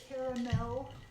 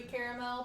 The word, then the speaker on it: caramel: Caramel. I think it's supposed to be caramel, but I just, it's I shorten it. It's the caramel. second A is silent.